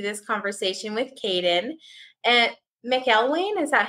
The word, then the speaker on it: McElwain: pronounced many different ways mcleen McQueen I've had the whole Spiel yeah well I'm very phonetic so I really hope that it sounds exactly like it looks when I look at